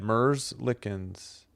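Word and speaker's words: Merzļikins: Merzlickens.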